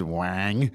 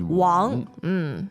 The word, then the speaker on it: 王: Sometimes pronounced Wang in the States. But it's But pretty the off. proper way of doing it Proper is pronunciation is Wang.